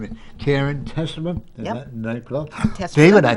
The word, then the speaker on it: Testerman: Testerman. David, I pronounced it right.